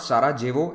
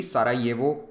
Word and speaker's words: Sarajevo: Remember, in these countries, the written J is pronounced like Y. So it is not Sarajevo, it will be Sarajevo and Ljubljana.